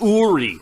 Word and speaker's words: Uri: let's go okay nori Ori is pronounced Ori let's do this let's